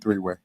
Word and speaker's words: 3weii: I know a lot of people think my name is spelled W-A-Y, but I just want to put it out there. It's spelled W-E-I.